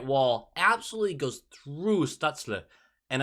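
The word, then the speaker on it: Stützle: goes through stutzler and i do not know if that is the right way to pronounce it i've heard it said a bunch of different ways but stutzla is the way i was led to believe just absolutely digs around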